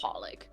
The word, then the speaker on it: HOLiC: Western Society well technically the actual proper pronounce like pronunciation for the title is just holic yeah oh I mean